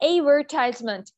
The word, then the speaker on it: advertisement: अब आप लोग सोचेंगे मैं डी को क्यों नहीं प्रोनाउंस कर रही. डी को नहीं करना, ए डी जब भी इकट्ठा आएगा आपने डी को साइलेंट कर देना है. Okay, advertisement.